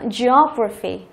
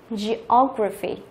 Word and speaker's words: geography: Đó, đuôi graphy thì trọng âm chính của từ sẽ rơi vào cái âm tiết trước đấy là rơi vào cái O này. Đó, geography, geography.